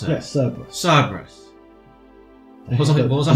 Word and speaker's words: Cerberus: Oh, so you pronounce it? Yes, Cerberus.